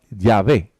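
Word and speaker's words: Yahweh: en ese término conjeturan que originalmente se pronunciaba ya ve que eso es lo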